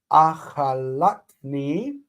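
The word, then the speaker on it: אכלתני: So achalat, and the stress is right there. Achalatni. Now we have a near syllable and a distant syllable. The near lengthens, the distant reduces to hataf, and we get achalatni.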